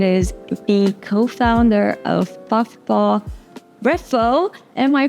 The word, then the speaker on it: Reffo: special guest it is the co-founder of Buffa refo am I pronouncing that right where is the name coming